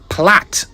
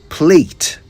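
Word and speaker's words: plait: Well, it's spelled P L A I T, but it's pronounced platt in British English. The Americans, however, say plate. Some even say play.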